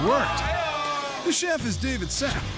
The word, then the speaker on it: Sapp: The chef is David Sapp. Even his name rhymes with app.